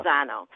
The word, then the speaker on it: Lozano: Lozano.